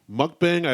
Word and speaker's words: mukbang: It's pron it's spelled m u k b a n g which would be mukbang but it's pronounced mukbang. M o k b o n g.